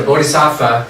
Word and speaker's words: bodhisattva: Which a bodhisattva, it's actually bodhisattva. Да, That's how it's pronounced, bodhisattva.